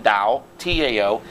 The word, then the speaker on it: Tao: why I I wrote the book I wrote the book The Dal of Twitter that's the official pronunciation da Tao in Tennessee we call